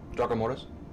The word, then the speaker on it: Draco Mortis: Draco Mortis. That's how I pronounce it. Okay. It's a localized thing. It's like Han Solo. You just pronounce it Han, however you want to pronounce it.